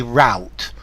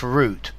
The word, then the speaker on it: route: I say root the Americans very often say route yeah but I'm British root for me it's root cravings for Elena cravings for